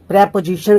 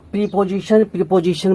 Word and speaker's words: preposition: YouTube पर तो बहुत सारे टीचर हैं जो प्रीपोजिशन करके ये रॉन्ग प्रोनाउंसिएशन फोनेटिक्स फैला रखा है, तो अवॉइड करिए इसे आप। ये करेक्ट साउंड है प्रेपोजिशन।